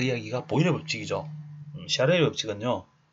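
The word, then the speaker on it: Charles: 샤를의 법칙이 이제 찰스라고 읽어야 되는데 프랑스 사람이라서 샤를의 법칙이라고 이야기를 하고요.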